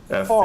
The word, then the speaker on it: Favre: Actually, it's sort of like a Brett Favre thing. Hmm. His name is spelled Favre, Yes. Favre. Yes. But he tells people it's pronounced Farve.